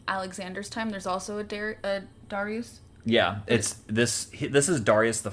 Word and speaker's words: Darius: Or, Darius, that's like the more Latin pronunciation, or it's more like Darius or Darius. It's more like, that's like the anglicized Greek approximation of his name.